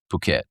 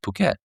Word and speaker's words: Phuket: Can you compete with Phuket?